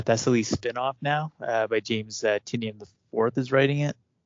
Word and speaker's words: Tynion: Oh, Tynion. Whoa. Is that how you pronounce his name? Yeah. My bad. No, that's okay, really? man. You're not the only person who. I thought Doc pronounced it Tynion for a long time.